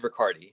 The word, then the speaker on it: Riccardi: It is Riccardi. You've been saying it right.